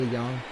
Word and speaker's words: DeJong: I know I say it wrong when I say Jong. It's Paul DeJong, but you know I just have fun with it.